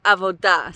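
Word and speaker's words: עבודה: And then we have avoda. So it's very similar to avuda, the sound of it, only it has an o instead of an u in the middle there. And this now means work, service, or oppression.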